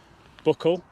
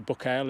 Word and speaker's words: Buachaille: around and you've got the Buckle not the book L as I've been pronouncing buckle etymore the little cottage